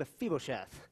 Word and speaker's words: Mephibosheth: left Mephibosheth that's how you say his name a feeble chef and here's the backstory to David and Mephibosheth